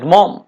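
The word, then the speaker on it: Maugham: Short story the luncheon written by William Somerset মম, তো উচ্চারণটা হবে মম।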